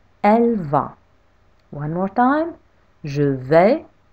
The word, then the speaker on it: je vais: in French, I say je vais. Because A and I in French make the sound E. Je vais. With a silent S at the end.